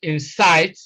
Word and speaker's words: insight: If you look at question number 32, you will discover that the word insight, let's see, it doesn't rhyme with inside because we are talking of height, not hide.